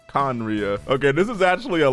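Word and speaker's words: Khaenri'ah: 500 years ago conria i had no idea how to pronounce that i was going to say something on like canery or something but apparently conriya okay this is actually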